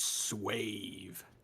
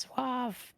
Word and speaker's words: suave: means Joanna hand captain it says swave I think being he's got it okay it's pronounced Suave it's it's fine yeah